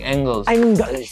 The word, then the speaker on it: Engels: Friedrich Engels.